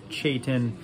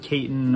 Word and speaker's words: Chetan: to ChatOn and he confirmed that his name is pronounced Chetan uh not Cayton or any other pronunciation so just wanted to